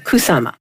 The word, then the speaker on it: Kusama: by a Japanese artist yayoi how she pronounces it kusama and it's wonderful you